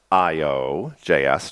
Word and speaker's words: io.js: That's great, because this is AO, or pronounced IO.js, just like the last, that one.